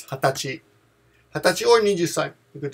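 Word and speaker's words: 二十歳: But the pronunciation is hatachi.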